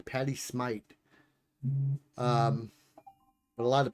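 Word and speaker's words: Patti Smith: heard her say it's Patty Smite. It's almost like the H is an E. Patty Smite. Um, but a lot of people say Smith or Smith or something like that.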